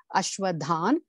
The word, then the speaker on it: परश्वधान्: class, please excuse me, Ashwadhan. You see the line underneath it, right? So it has to be pronounced as Dhan. So that half sound should be there.